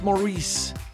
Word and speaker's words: Maurice: great debates isn't it is Maurice or Morris I don't know if it'll it'll ever really be settled um perhaps philosophers will be arguing over this for centuries to come how many times it's Maurice Maurice how do you pronounce